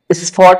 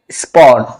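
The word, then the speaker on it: spot: এটা সঠিক উচ্চারণটা হবে স্পট। কারণ হচ্ছে এই যে এস লেটারটি আছে এরপরে হচ্ছে পি বসেছে, পি লেটারটি বসেছে, এই জন্য এর উচ্চারণ হবে প এর মতো, বাংলায় প এর মতো, স্পট।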